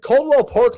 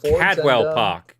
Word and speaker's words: Cadwell Park: that okay so uh uh Coldwell Park later on today Cadwell Park Cadwell Park Cadwell Park okay it's literally my home track pronunciation biting me there yeah it's English it's English catwell all right all right